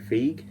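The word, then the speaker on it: Feig: That's how you pronounce it in it. Fig ei what however the director of bridesmaids and the heat with that's Sandra Bulock and Melissa McCarthy in it.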